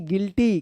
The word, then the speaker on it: guilty: GUILTY गिल्टी। क्या पढ़ेंगे इसको? गिल्टी। GUISE गीज। गाइज पढ़ेंगे, गीज नहीं गाइज होगा इसका उच्चारण, ठीक है ना।